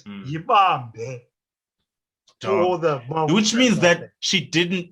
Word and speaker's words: Yibambe: It's not Abape. It's Yibambe.